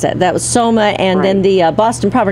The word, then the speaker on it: Soma: That's right, Selma, yeah.